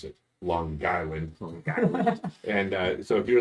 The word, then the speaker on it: Long Island: Long Island and see I know how to pronounce it Long Island longland and uh so if you're in Long Island